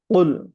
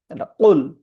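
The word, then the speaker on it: قُلْ: শুরু করছি আল্লাহর নামে যিনি পরম করুণাময় অতি দয়ালু কুলহু আল্লাহু আহাদ কুল এটা হচ্ছে কুল কফ কফের উচ্চারণটা আমরা জানি জিহ্বার গোড়া তার বরাবর উপরে তালু সঙ্গে লাগাইয়া কুল আর আমরা যখন কাফ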